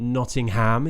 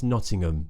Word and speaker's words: Nottingham: um Birmingham Birmingham Birmingham similar with Nottingham Nottingham so it's not Nottingham it's Nottingham Tottenham we all know Tottenham